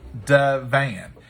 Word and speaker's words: Divan: about this so dona donut says it's duh van so it's chicken divine thank you ma'am i